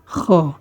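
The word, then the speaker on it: خ: এরপরের হরফ হচ্ছে খ। উচ্চারণটি হচ্ছে খ। আমরা অনেক সময় কিছু খেতে গেলে যখন আমাদের গলার ভিতরে কোনো কিছু আটকে যায়, তখন আমরা গলা যেভাবে ঝেড়ে সেই গলাটা ক্লিয়ার করি, তো ঠিক তেমনিভাবে উচ্চারণটি হবে খ, খ।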